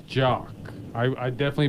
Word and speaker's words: Jacques: also make a correction your last name is jock i i definitely butchered